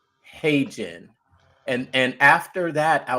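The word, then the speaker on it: HeyGen: Now you might say hey Jen, it's spelled H E Y Gen. Hey Jen.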